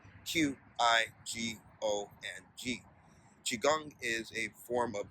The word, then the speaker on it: Qigong: That's spelled Qigong.